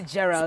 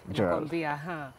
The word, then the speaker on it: Gerald: Yeah, Gerald. Spelled with a G, but it's pronounced as J. Oh, whoa. Gerald.